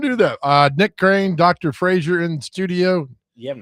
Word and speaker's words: Frazier: My name's Frazier. Spelled a little different, but pronounced the same.